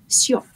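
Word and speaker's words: siop: And shop, instead of S-H, it's S-I-O-P, shop.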